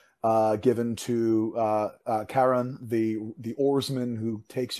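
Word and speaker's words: Charon: given to uh uh Karen the the oarsman who takes you across the river sticks now I've heard it pronounced Sharon I've heard it both ways as well I like the hard C I like Carolyn as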